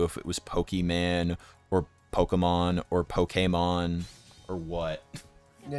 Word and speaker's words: Pokemon: Yeah, it's just that classic Pokemon media sort of just over pronouncing things, you know. Oh yeah. This guy it's not Pokemon, it's Pokemon.